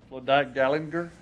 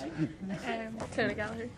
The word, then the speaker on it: Clodagh Gallagher: Claudette Gallagher? Not even close. Clodagh Gallagher.